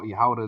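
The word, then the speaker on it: יהודה: And the land of Yahawadah, which is Judah, how Yahawadah is how you say it in Hebrew.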